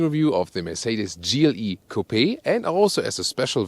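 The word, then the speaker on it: Coupé: GLE Coupe or Coupe, we always say Coupe because we lean to the French original pronunciation.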